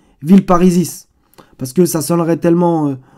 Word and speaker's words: Villeparisis: Vous voyez bien que d'ailleurs, dans la prononciation, maintenant on dit Villeparisis. Alors que le S, il devrait se prononcer Villeparisis.